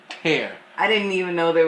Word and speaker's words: Tear: Not Tear, Tear.